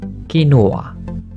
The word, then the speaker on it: quinoa: pronounced as quinoa.